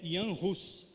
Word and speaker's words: Jan Hus: Então a língua é a língua tcheca, e a pronúncia é Jan Hus, é igual o nome, é João, mas é Jan, igual quando você fala Johannes, né?